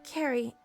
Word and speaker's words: Carrie: Oh, it's pronounced Carrie, like a K.